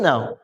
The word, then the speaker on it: know: Yes or no? For example, KNOW. How do you pronounce it?